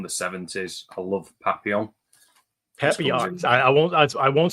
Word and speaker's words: Papillon: Papillon.